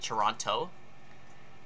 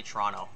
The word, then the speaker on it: Toronto: because americans pronounce it toronto like they pronounce the t whereas canadians they just say toronto there's no t it says t silent